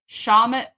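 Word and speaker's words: Shawmut: It's at 45 Shamut Road in Canton. Did I pronounce that correctly?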